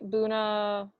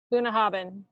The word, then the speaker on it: Bunnahabhain: The one on the top right, Bunnahabhain. Bunnahabhain. Say that when Bunnahabhain. you're drunk a few times. Bunnahabhain. Bless you. And yeah, so and actually this is an outdated map, because between Bunnahabhain and Kalila there is a new distillery called